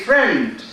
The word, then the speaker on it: friend: We say friend. The I is silent.